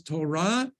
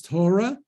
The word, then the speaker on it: Torah: that line is what Torah that's the correct pronunciation is Torah uh you'll often hear it pronounced as Torah that's that's under the Yiddish influence of moving